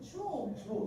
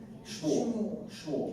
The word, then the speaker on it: Schmuhl: First of all, Shmuel. I think that's what threw me off. SCHMUHL. Yes. That's one of the things. The second H is silent.